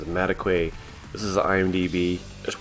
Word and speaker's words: Madekwe: here I'm on Archie I looked up how to pronounced his last name is mataquay this is IMDb I